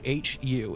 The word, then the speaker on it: Hu: all right the who it's pronounced H you or spelled h u it's the H okay hu um which has some